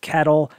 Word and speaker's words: CATL: lfp batteries provided by catl c-a-t-l some people pronounce to cattle is the leader in